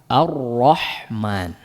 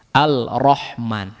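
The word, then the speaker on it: الرحمن: Makanya yang paling mudah adalah diidghamkan seperti Ar-Rahman. Coba di mana yang lebih mudah? Diizharkan atau diidghamkan? Coba diidghamkan. Ar-Rahman. Diizharkan bagaimana bacanya? Al-Rahman.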